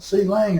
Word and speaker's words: Clang: Now, I'm going to pronounce C-Lang, well, I'm not going to pronounce C-Lang as Clang. There's GCC, PCC, Microsoft C, Quick C, Open Watcom C, Turbo C, so they all pronounce the C. So I am going to say C-Lang. That's, if you hear me say C-Lang instead of Clang, that's where that comes from.